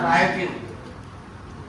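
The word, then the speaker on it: writing: Reading, दूसरा राइटिंग और तीसरा अर्थमेटिक। राइटिंग में W साइलेंट है, अर्थमेटिक में A साइलेंट है, अरिथमेटिक।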